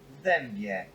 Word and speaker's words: w dębie: W dębie.